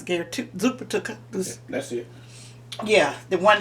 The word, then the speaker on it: Zuppa Toscana: Zuppa Toscana. How you pronounce it, Gary? Zuppa Toscana.